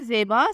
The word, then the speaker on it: ZAIBA: नाम है ज़ेबा, स्पेलिंग है ZAIBA।